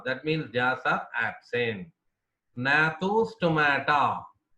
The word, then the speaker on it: Gnathostomata: Nathostomata. G is silent here. Nathostomata.